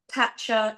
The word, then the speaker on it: Tatcha: To add, I did call in some more of the Tatcha. It is Tatcha, isn't it?